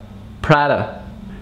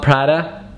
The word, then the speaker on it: Prada: rocher ferrero rocher kinder then we have prada prada it's not prada it's prada it's not fanny it's